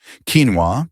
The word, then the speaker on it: quinoa: Quinoa, pronounced quinoa, might look like just another grain, but